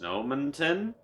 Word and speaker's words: Snowmonton: And, he wreaks havoc on the town of, can't believe I'm saying this, Snowmonton, which rhymes with Edmonton in a way.